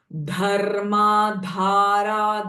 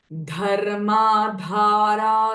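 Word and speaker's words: धर्माधारा: धर्मा धारा धना दक्षा ध इ महाप्राण साउंड धर्मा धारा धना अध्यक्षा धन धान्य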